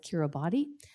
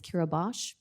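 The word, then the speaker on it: Kiribati: Pacific Islands called kiribash if you look at it as it's spelled it looks like curabody but it's kirabash it is an island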